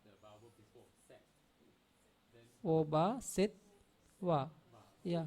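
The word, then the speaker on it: obhāsetvā: So the first T is pronounced with the vowel before set. Then Oba, set, wa.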